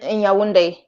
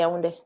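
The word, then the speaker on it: Yaoundé: It's not pronounced the way it's spelled either.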